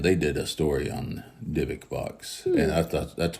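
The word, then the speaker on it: Dybbuk: Pronounced the same way, Dybuk. Dybuk, yes, ma'am. Okay. Yeah, it's pronounced as if you were spelling it Dybek. So, Okay. but instead of the E, there's a U.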